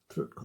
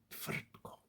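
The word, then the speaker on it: Tvrtko: Bosnia, the one that we started with old Trutko the First. I do apologise for getting your name wrong. Trutko, is that the right pronunciation? Yes, Trutko.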